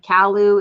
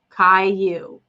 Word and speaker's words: Caillou: And Callu is pronounced Caillou. Caillou. That's right. Right. Thank you. The double L.